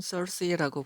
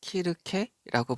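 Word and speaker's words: Circe: 자, 여신 여기서는 썰시라고 보시면 되겠고 발음은 그리고 우리가 알아듣기에는 키르케라고 보시면 돼요.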